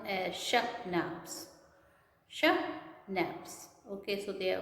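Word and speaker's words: schnapps: We have sashnaps. We have sauces. So sashnap is children. This word is pronounced as sahnaps. Okay, this is pronounced as shahnaps.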